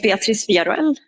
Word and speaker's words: Beatriz Villarroel: My name is Beatriz Villarreal. Okay, that's it. Beatriz Villarreal. If you want to spell it, to look up her name, it is Beatriz Villarroel.